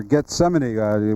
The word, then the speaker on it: Gethsemane: And Monday you have a horse in the 4th race here, Gethsemane. Any thoughts on him or her? Him. At least you pronounced his name right.